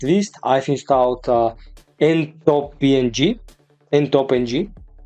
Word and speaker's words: ntopng: And last but not least, I've installed ntopng. I think that's the best way to pronounce this, ntopng, which is a super